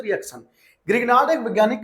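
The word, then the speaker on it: Grignard: के साथ में रिएक्शन ग्रिगनार्ड एक वैज्ञानिक का नाम है ना ग्रीनर बोलते हैं हिंदी में ग्रीनर बोलते हैं ना डी साइलेंट होता है तो ग्रीनर हो गया तो ग्रीग नाड हम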